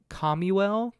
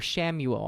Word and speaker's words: Chamuel: Then lastly, out of the 7, Archangel, I'm going to mispronounce this, Chamuel, Chamuel, Chamuel. or Shamuel. I think it's Shamuel. People pronounce it differently in different ways, probably.